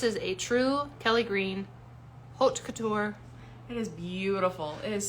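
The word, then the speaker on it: haute couture: what is it and she would say it's hot and I'm like hot cut I don't know how to say that until she finally was like like hooked Couture and then I had to say it like six times hot Couture so now I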